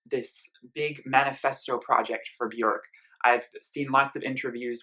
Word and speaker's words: Björk: I also I'm going to be really careful to say Bjork not be work because I've been saying that in all my Bjork reviews Bjork reviews so far and it's not the official Icelandic pronunciation so I want to try as a real Bjork fan to pronounce it more like jerk if I may slip